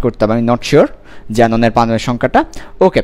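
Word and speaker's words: xenon: কে একটা কে থাকবে সামনে, কেটা উচ্চারিত হবে না, যেমন আমরা যেমন অনেক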